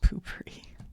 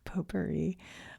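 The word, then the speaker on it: Poo-Pourri: PooPourri. I meant to say poperri. That stupid spray had me saying it wrong.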